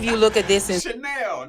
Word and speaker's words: Chanel: Chanel, not Channel. How many of you look at this and... Chanel, not Channel.